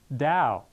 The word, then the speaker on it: Tao: Now it's interesting again is that way or truth or path in Japanese that is do and in Chinese it is tao which is pronounced dao.